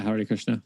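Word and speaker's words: Hare Krishna: Christian but they found out how do I pronounce it is it Hari Krishna yeah Hari Krishna there was actually one dude that found a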